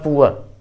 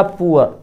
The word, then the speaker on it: poor: प्रचलित उच्चारण पुअ are silent, ये हर जगह है। अंतिम आर साइलेंट ब्रिटेन इंग्लिश में और अमेरिकन इंग्लिश में नहीं साइलेंट। तो पुअ या पुअर, पॉर इसका ऐसे भी